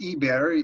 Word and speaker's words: Eber: It's pronounced Eber.